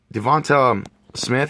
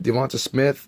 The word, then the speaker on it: DeVonta Smith: Devonta Smith, that's how you say it. Devonta Smith, wide receiver out of Alabama.